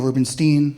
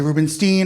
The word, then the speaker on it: Rubenstein: name all the time it's Rubinstein they'll say Rubenstein or Rubenstein Goldberg I don't know don't